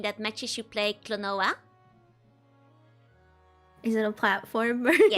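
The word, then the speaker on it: Klonoa: Um, one of the buns is saying that matches should play Clonoa. Is it a platformer? Yes. How did you pronounce the game? It's a very Clonoa.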